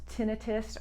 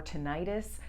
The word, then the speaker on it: tinnitus: ringing in the ears it's either pronounced tinnitus or tinnitus whatever way you want to pronounce it it's annoying so let's